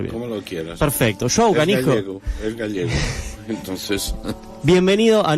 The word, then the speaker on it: João Canijo: ¿Cómo lo podríamos pronunciar bien? Como lo quieras. Perfecto. Joao Canijo.